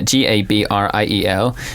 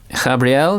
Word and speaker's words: Gabriel: it's going to be spell so we've got g a b r i e l which uh one would say would be Gabriel